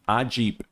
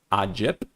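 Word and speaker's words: AGIP: A jeep. It is um Italian. I I did see a uh an Australian commercial that called it a Ajip.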